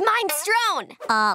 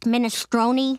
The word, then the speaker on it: minestrone: I get his minestrone! Lenny, it's pronounced minestrone. I call it minestrone, cause it's mine.